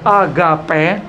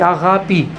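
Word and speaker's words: αγάπη: Ну, как правило, в русском языке говорят «агапе», так вот. Вы это можете прочесть и вычитать, и услышать. Но в греческом, конечно, по-гречески правильно говорить «агапи».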